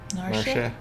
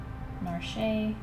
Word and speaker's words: Narshe: I think some people say the E in that. I think in Japanese it's kind of like she. Narshe.